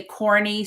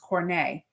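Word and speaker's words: Corné: because some people say corny some people say corn but it was c-o-r-n-e with the accent mark on the E so it's pronounced cornet oh very sweet girl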